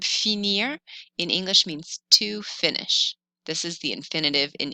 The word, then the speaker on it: finis: These endings on the left are pronounced E. You don't hear the final S's or T's. So this is pronounced je finis, tu finis, il finit, elle finit, on finit.